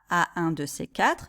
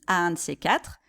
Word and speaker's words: à un de ces quatre: de ces quatre », remarquez la prononciation. On ne dit pas à un de ces quatre, mais on dit à un de ces quatre. Hein, remarquez que le D de 2 devient plutôt un T.